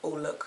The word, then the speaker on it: Olook: Actually, my European friend said it's Olook, like Eau Couture.